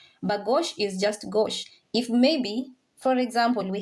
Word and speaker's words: gauche: Yes, the E is silent. Gauche. Gauche. Yes, the vowels at the end are not pronounced unless there is an accent.